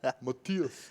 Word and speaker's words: Matthias: Matthias, but when I'm from Denmark, you have to say Matthias. I say Matthias. I thought you said Matthias. Well. Matthias. So I'd rather just call them. Matthias. I've got it That's basically how you say it in Danish, even though it sounds hideous.